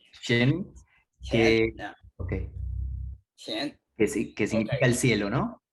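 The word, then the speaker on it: 乾: acuerdo cómo se pronuncia, Shen, could be the pronunciation of that? qian. Shen, que, okay. Qian.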